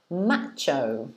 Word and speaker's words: macho: It does sound like nacho. It rhymes, exactly.